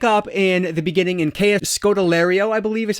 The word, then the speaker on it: Scodelario: So we pick up in the beginning in Scodelario, I believe is how you say her name.